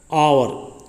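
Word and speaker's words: hour: नीचे चेक करते हैं, आवर, ये क्या बोला जाता है बच्चों, आवर, एच इसमें साइलेंट रहता है।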